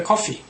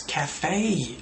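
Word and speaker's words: café: They might say, in pronunciation, they might say coffee. I went to the coffee. It's cafe. A-E, cafe. Cafe, not coffee.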